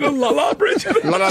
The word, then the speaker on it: Lollobrigida: That's Gina Lollobrigida.